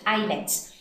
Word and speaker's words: islets: the eyelids of langerhans now this is how we pronounce it eyelets now this was called